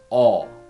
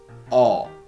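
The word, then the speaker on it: ㅗ: is the second vowel it sounds like all all if you want to pronounce vowel or correctly open your mouth and your tongue should be back and middle oh oh okay let us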